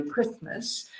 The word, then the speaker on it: Christmas: go for it throw Christmas so we don't pronounce the T generally Christmas my nearest Valentine's Day